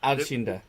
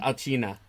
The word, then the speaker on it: Alcina: Alcinda. Arcina. Alcina.